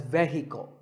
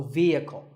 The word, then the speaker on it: vehicle: often pronounced wrongly as vehicle but the e is a long and the H is silent so vehicle number eight is this